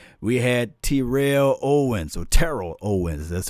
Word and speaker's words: Terrell Owens: the same thing we had Terrell Owens so Terrell Owens that's how you say his name say the